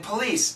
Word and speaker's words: police: Please has a Z sound. Police has an S sound.